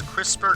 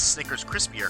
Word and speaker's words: Snickers Crisper: but on the Snickers Crisper car, first of all, I'm glad I pronounced that right, because usually some people say, oh, that's a Snickers Crispier car, but it's crisper, so that is kind